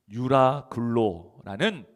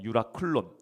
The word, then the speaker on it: 유라클론: 근데 그 건너가는 중에 뭘 만났냐면 바로이 유라굴로라는 폭풍을 만나게 돼요. 여러분이 유라굴로라는 말은 우리나라 말로 이제 유라굴로 히브리 아 헬라어로는 유라클론이라고 번 발음을 합니다. 유라클론 근데이 유라클론이라는 말은 합성어예요.